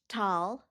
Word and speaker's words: Talkeetna: Pronounced Talkeetna.